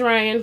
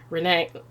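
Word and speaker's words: Ryanne: My name is Ryan, but you spell it R-Y-A-N-N-E. Just Ryan, not Ryan, not Ryan, not Ryan, not Renee, nothing. It's just Ryan, okay?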